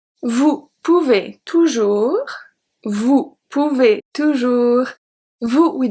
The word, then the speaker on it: toujours: Toujours, toujours. I don't say toujours, don't say that. Toujours, the S is silent.